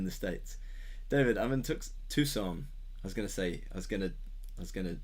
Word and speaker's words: Tucson: David, I'm in Tucson. I was gonna pronounce it wrong. Tucson, Arizona, USA.